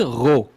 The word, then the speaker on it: Rheault: Because English people are like R-O-W, and I'm like, not even close.